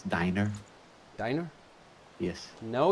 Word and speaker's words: Diner: on which way I'm gonna go five star dinner first because of the heal buff that Sam and I could I could correct your pronunciation again it's diner diner yes no it's oh it's diner oh